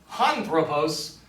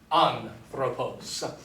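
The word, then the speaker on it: ἄνθρωπος: It is not anthropos, but rather anthropos.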